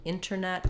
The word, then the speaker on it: internet: But that dropping of the T happens more in words like internet.